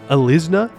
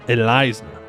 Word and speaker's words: Elizna: How else am I supposed to say it? Alizna? No, Elizna.